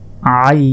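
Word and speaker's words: ع: হচ্ছে চার আলিফ টান আইন হলকের মধ্যভাগ হতে অর্থাৎ গলার মধ্যভাগ হতে এটি উচ্চারণ হবে আইন আইন আইন আইন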